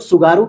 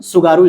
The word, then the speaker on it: Tsugaru: तो इसी तरीके से यहाँ पे लिखा हुआ TSUGARU स्टेट, जिसे हम लोग सुगारू स्टेट भी बोल सकते हैं। क्या बोलेंगे, सुगारू स्टेट, क्योंकि टी यहाँ पर साइलेंट हो जाएगा।